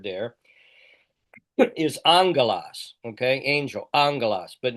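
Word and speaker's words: ἄγγελος: Angalas. But notice that the breathing there is unaspirated. It's not hungalas. It's angalas.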